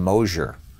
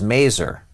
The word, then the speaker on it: Mazur: Paul the hockey people pronounced his name Mosier his name was Mazur but he didn't bother